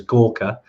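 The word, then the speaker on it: Gorkha: the giras are from um even though it's pronounced as Gorka um I know it's been kind of spelled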